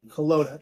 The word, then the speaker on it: Kelowna: We're headed to Kelowna, actually is how you pronounce it, Canada, to interview, I'm not going